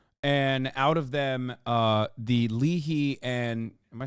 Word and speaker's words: Lehi: And out of them, the Leahy and am I saying it right? Lehi. Lehi.